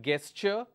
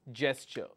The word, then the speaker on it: gesture: Val sound number two Jess sure it's not guessed sure it is gesture let's take another word